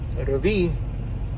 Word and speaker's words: Ravi: I don't know if it was Ravi or Ravi, but I looked it up um pretty recently and um my name is actually an Indian name and the pronunciation um Ravi is the actual correct one.